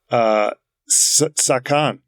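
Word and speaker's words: 左官: How about and again, I do not know how to pronounce these words. Sakan.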